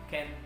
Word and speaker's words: can: one and the last make sure you pronounce it correctly by using ken and kant that's all for today